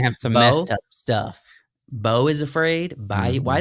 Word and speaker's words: Beau: like between this and playing Napoleon, and then Bayou is Afraid that came out. Yeah, he's gonna have some messed up stuff. Bo is Afraid.